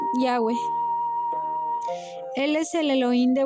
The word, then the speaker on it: Yahweh: con las cuatro letras que se escriben de derecha a izquierda en hebreo, YH, que se pronuncian Yahweh.